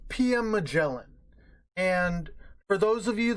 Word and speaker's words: Magellan: who my pirate is named after its not maggle again I know you guys I know that's the meme but it's pronounced Magellan and um so I'm talking it's a BAE